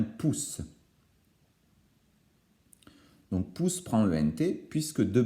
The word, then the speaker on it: pousse: s'écrit avec ent évidemment ne fallait pas oublier les deux aces pour ne pas écrire pouze mais bien pousse donc pu sprinter puisque